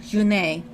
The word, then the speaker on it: June: June. Or Junet. if you're actually going to say the correct pronunciation.